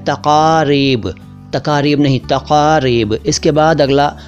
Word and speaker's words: तक़रीब: तो आज का पहला शब्द है तक़रीब। तक़रीब को तकरीब ना कहें, यह तक़रीब। तक़रीब का मतलब होता है उत्सव और इसका प्लूरल है तक़ारीब। तक़ारीब नहीं, तक़ारीब।